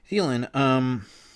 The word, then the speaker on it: Thielen: I keep saying his name wrong. Thielen.